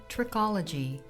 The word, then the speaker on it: trichology: The scientific study of the hair is called trichology, pronounced trick-ol-a-g.